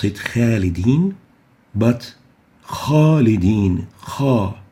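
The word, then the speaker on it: خَالِدِينَ: Khalidin, we don't pronounce it khalidin, but khalidin, kha, not kha. We give it tafkheem for three reasons. First, the letter kha is part of khussadat al-qidh letters, elevation letters, and tafkheem letters.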